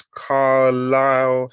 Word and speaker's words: Carlyle: at the moment is, and I have to pronounce this correctly, it's Carlisle HR.